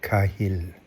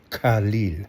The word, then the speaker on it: Khalil: Thank you, Mahmud Kahil. Is that right? Khalil. Sorry. Thank you, Mahmud Khalil. I'm sorry, brother. I got your name wrong.